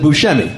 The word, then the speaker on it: Buscemi: you know technically there's he's not even pronouncing it the proper way i guess i introduced you as who's because of my extensive research i learned that that's how you pronounce your last name that's true even though everyone else in the entire world pronounces it buscemi yeah don't know why what do you want it to be well i can't i can't say buchami because i didn't grow up that way right have you